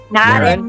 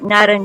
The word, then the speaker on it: Nairn: Am I saying it right? Narin, yeah. Well, if you're speaking Gaelic, it would be like Narin Shai, but here, because that means Nairn Shire.